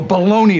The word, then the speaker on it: bologna: One linguist told HuffPost that this was just an instance of Americans replacing the ending I and A in Italian words with a Y.